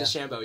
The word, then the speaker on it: DeChambeau: Sorry, is that how I'm pronounced? Bryson DeChambeau, yeah. DeChambeau, yeah.